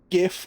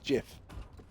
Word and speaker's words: GIF: Yeah, I was going to say it stands for graphic, so that's why it's a G, not a J. It's a GIF, not a GIF.